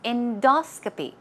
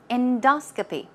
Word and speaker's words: endoscopy: example okay now pronunciation stress goes right there on the second syllable it's endoscopy endoscopy all right okay let's